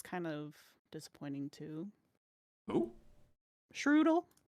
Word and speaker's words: Shroodle: Shroodle rhymes with noodle.